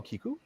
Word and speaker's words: Kiku: author is kiku hughes who's right there hello kiku am i pronouncing that correctly perfect okay just you never